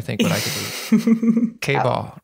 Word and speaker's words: KBall: KBall rhymes with ball.